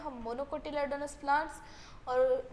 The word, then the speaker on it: monocotyledonous: और इसको क्या आएगा, मोनोकोटिलेडोनस।